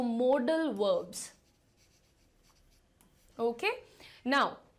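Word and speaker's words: modal: हिस्से को कहते हैं मॉडल मॉडल की स्पेलिंग पर ध्यान दीजिएगा अक्सर स्टूडेंट इसको मॉडल लिख देते हैं बट इट इज नॉट मॉडल related to modelling ठीक है दिस इज मोडल ये कहां से आता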